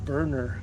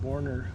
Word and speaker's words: Boerner: need to make is it sounds like it's pronounced burner Gardens and I said borner Gardens but at the